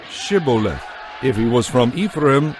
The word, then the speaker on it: Shibboleth: they would tell him to say Shibboleth. If he was from Ephraim, he would say Sibboleth, because people from Ephraim cannot pronounce the word correctly.